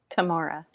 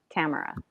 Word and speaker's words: Tamora: And then I had to listen to um Wild Magic on audio and the audiobook narrator was saying Tamara.